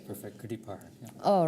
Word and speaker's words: Gurdeep Parhar: Gurdeep PARHAR. Am I saying it right? That's perfect. Gurdeep PARHAR.